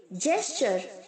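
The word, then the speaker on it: gesture: यहाँ पर जो बच्चों जी है वो जे की तरह साउंड करेगा, जैसे हमने जनरेट में बोला था, राइट। जी जो है वो जे की तरह साउंड करेगा और जो टी है वो CHO की तरह साउंड करेगा, जेस्चर। ओके, जेस्चर्ड, जेस्चर्ड।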